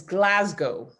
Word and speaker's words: Glasgow: Your second city is Glasgow.